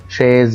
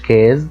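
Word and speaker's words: chaise: كلب نفس القصه برضو شاز يعني كرسي شاز ما قلتش كاز لا قلت شاز ا بخلاف الملاحظات اللي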